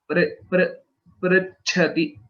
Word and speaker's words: Prichhati: So a few places Prichhati Cha Mahaprana was missed. So Prichhati. Prichhati Cha. Prichhati. Yeah. Other pronunciation is all correct. Cha, that Mahaprana Cha did not come well.